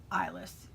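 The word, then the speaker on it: Eiless: And the colorway is called Eyeless, and that's spelled E-I-L-E-S-S. IS. So this is the one I ordered for my Find Your Fade. So there's Eyeless.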